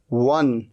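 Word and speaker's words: won: अच्छा, बस फर्क ये है कि इसे W है ना, तो आप अपने होठों को राउंड कर दें, वन। ही वॉन the match, he वॉन the match, W, वो, वन। तो वन कहते हैं, इसे वॉन नहीं कहना, वॉन, वन, वन मतलब जीता, सेकंड फॉर्म, ये थर्ड फॉर्म।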